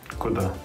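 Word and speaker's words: куда: Karena dalam bahasa Rusia itu ada kata-kata kuda. Kuda. How to pronounce it?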